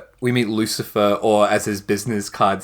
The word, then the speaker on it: Lucifer: It's pronounced Lucifer.